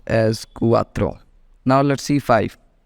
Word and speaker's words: cuatro: pronounced with it's vowels okay so 4 is pronounced as cuatro now let's see five 5 is called Cinco